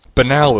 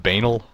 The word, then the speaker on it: Banal: Banal is how you pronounce it, right? It's not bananal.